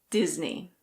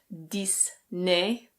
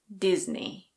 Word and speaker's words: Disney: The first one is Disney. Disney. It's not "diss-nay". It's Disney. Disney.